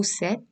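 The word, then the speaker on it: cette: used for feminine singular like seth robe oh set shells seth rope seth shells so robe tube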